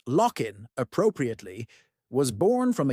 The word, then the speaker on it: LOC: The League of Once colonized Nations, LOC, pronounced lockin appropriately, was born from a unanimous vote to dissolve the United Nations for excessive nostalgia.